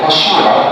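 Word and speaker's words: fissura: النطق الصح بتاعها فاشيورا، ولو حتى الفيشر برايما اوكي.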